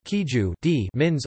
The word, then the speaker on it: queijo de Minas: Minas cheese, queijo Minas or Portuguese, queijo de Minas, pronounced queijo de Minas, literally, cheese from Minas, is a type of cheese that has been traditionally produced in the Brazilian state of Minas Gerais.